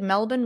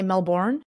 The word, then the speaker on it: Melbourne: be a fun time the fact that you said Melbourne right and you didn't say Melbourne is amazing okay so I like